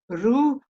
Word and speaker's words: ruha: And they said, no, it's ruha. Ruha. They just breathe the HA. They don't say it. They don't voice it.